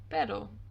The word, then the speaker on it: pero: brings me on to the second sound of the r which is when there is just a singular r in the middle of a word for example the word pero which means bot perro unlike perro which means dog pero means bot or for example the